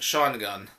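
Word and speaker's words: Shawangunk: they've been given intel that 3 Autobots are operating the area of the Shawngum Mountains, and it's like SHAWOUNGUNK, but it's pronounced Shawgun.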